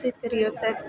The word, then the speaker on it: deteriorate: And for the two words, they're deteriorate. Divide deteriorate in syllable is d, d, te, ri, o, ret. So the word from deteriorate have five syllables, and for the stress syllable is three.